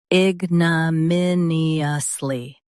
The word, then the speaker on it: ignominiously: Ig, n, min, e, us, ly, ignominiously.